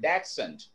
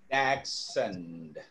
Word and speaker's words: dachshund: So we always, very often use this word, dachshund. That's how it should be pronounced.